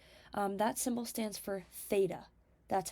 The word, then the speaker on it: Theta: middle of it um that symbol stands for Theta that's how you say it um and what